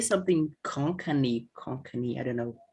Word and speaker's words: Konkani: you would you could you say something konkani konkani i don't know how to pronounce this yeah that's right that's how we